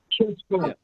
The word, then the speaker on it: Cescon: So anytime you have a C and it's followed by a vowel, it's always hard. It's a hard C. So Italio Cescon, my apologies. Cescon.